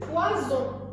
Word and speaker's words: poison: Par contre, si on avait mis un seul S, on l'aurait lu poison.